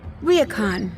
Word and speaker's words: ryokan: pronounced Ryokan.